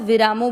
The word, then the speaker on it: विरामो: विरामो, वीरामो नहीं करना है, ये ध्यान रखना है।